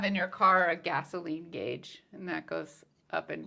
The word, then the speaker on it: gauge: would be gauge again I always said gge but it's gauge it's it's very it's